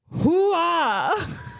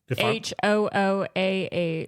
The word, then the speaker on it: Hooah: Hoo-ah. You don't know how to say it. I don't. That's the Army battle cry. You say cry. it. It's hua.